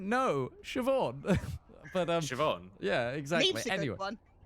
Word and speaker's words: Siobhan: Yes, this name Sibohan, no. Siobhan.